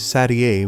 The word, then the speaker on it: Satie: called by numbers, and her birth name is Sadie, like that French classical pianist. Some people confuse it with 7, which is not not her number, but the correct pronunciation is Satie, which is not a number at all and sounds much fancier.